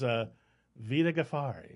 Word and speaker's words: Vida Ghaffari: That is Vida Ghaffari.